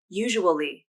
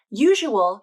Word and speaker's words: usual: pronunciation a little tricky the first way to pronounce these words is to say each syllable just like the words are written usual can be three syllables usual usual usual and usually